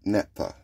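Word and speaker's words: naphtha: It's uh nap napa. It's n a p t h a uh napa. I think I'm pronouncing that right.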